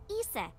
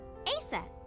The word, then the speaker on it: Isis: horace's mom is named isis but in ancient egyptian it's pronounced closer to isa or asa huh it comes back